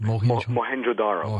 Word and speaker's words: Mohenjo-Daro: He has said that the melting bricks at this town you just mentioned, how do you pronounce that? Mohenjo-Daro.